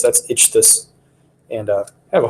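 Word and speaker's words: ichthus: i c h t h u s that's itch this and uh I have a hard enough time people pronounce but I'm gonna stick with it because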